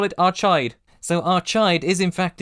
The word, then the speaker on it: Archaide: replica display of them on a planet called Arcade. Unlike Finder's Crispy Pancake or whatever it was called, I'm 1000% sure that word is pronounced Arcade.